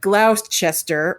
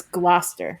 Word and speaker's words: Gloucester: difference that you said I said Glouster which means I know some of the pronunciation but I didn't know the whole thing because I could have said glow Chester or glister glester glister I knew part of it but it's Gloucester yes um it's it's a